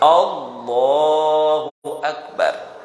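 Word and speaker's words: الله أكبر: A-nya panjang nggak boleh. Kalau A-nya panjang itu artinya apakah Allah Maha Besar. Ya, jadi salah besar itu, ya. Jadi kita bacanya pendek. Allahu Akbar, ya.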